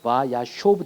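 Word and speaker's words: וַיֵּשֶׁב: 그래서 바야쇼브 됩니다. 그래서 바브 연속법의 두 번째 샤브가 아니라 요 오의 오. 그래서 그 제가 발음 써놨죠. 바야쇼브라는 거. 그래서 액센트 위치 발음에 주의하라고 했죠. 그래서 바야쇼브, 바야쇼브이죠.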